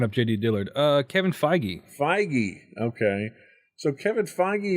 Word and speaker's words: Feige: determined and that's a Kevin how do you pronounce his name I was looking up JD Dillard Uh Kevin feige feige okay so Kevin feige is also getting